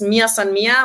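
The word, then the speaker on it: mia san mia: People might not know this so much globally, but there's this Mir San Mir, which is like a Bavarian pronunciation of "we're us," essentially.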